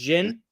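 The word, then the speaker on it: Djinn: Jin Jin it's just Jinn yep Jin the D is silent the D is silent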